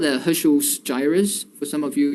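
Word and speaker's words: Heschl: It's also called the Herschel's gyrus, for some of you, if you're interested. Let me just, okay, so it's spelled as HERSCHL, okay.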